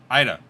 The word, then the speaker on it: Ida: How do you pronounce the name of the hurricane? Ida? Ida.